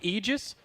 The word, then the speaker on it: Aegis: That is how I learned that it was Aegis. I was I saying know. Aegis. He DM'd LD and said, I don't know who that idiot is, but tell him it is Aegis.